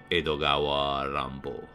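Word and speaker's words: 江戸川乱歩: influencia, Edgar Allan Poe, que pronunciado con el silabario y acento japonés se lee más o menos como Edogawa Rampo.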